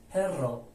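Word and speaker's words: perro: یا دوبل بهش میگن دوبل ار یعنی د تا حرف ر صداش دقیقاً مثل حرف بالایی یعنی همون ره هست ره هست ولی کشیده‌تر خونده میشه کلمه پرو به معنای سگ اگه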